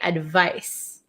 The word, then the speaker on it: advice: it's so tricky right advice has an S sound but it's spelled with a c advise has a z sound but spelled with an s h why is English